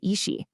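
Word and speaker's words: 意识: Well, you get the result, your experienced reality, or as the source calls it, yi shi, pronounced yi shi.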